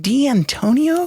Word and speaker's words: D'Antonio: And then John, is it D'Antonio? There you go. Does he have a 5-syllable last name? Yeah, I was thinking about D'Antonio. Yes, five.